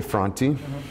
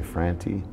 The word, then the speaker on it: Franti: Well, you know, I say Franti, but there's other people in my family who say Franti. And I say Franti because my parents are from, they're first generation from Finland in this country.